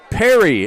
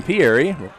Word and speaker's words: Perry: Perry is how they're pronouncing the quarterback's last name. I've been saying Pieri.